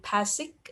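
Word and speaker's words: PACELC: CAP theorem, which is I believe the pronunciation is PASIC theorem, which is now a lot of database use, which is MongoDB, CosmoDB.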